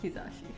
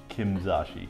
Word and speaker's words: Kizashi: water drink every time john mispronounces kizashi kimzashi kimzashi it's not it's kizash i wanted to make